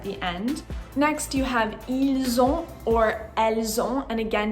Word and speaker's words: ils ont: Next, you have ils ont or elles ont, and again, don't forget to pronounce the Z when you're speaking.